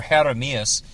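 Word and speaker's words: Jeremías: white boy and or Jeremias which is like the Spanish version of Jeremy you know the J is silent in Spanish so um those are all terms of endearment.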